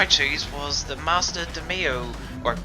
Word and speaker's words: Demio: So the first race is of course the daily race A, and the car I chose was the Mazda DeMio, or DeMio if you pronounce it, which looks to be the OP car to drive around KL2.